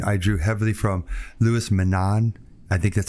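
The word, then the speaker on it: Menand: his pragmatism and I drew heavily from leis Manan I think that's how you pronounce his last name me me n n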